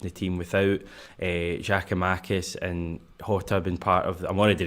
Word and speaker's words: Jota: I need to just go Jota. There was someone in the comments was saying that he's done an interview with Jerry McCulloch where he's pronounced it Jota.